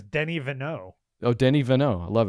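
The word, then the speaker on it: Denis Villeneuve: and it's basically uh denis which for all english purposes should be pronounced dinus and and after that which i don't know you've settled on something that i want to adopt just for the whole of the show how would how did you go there denis his name is denny vanneau oh danny vaneau i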